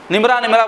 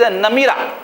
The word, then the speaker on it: نمرہ: عرفات کے میدان میں، نمرہ بولتے لوگ اس کو، اصل اس کا جو تلفظ کیا ہے؟ مسجد نمیرہ، نون پہ زبر میم پہ زیر۔ تو مسجد نمیرہ بھی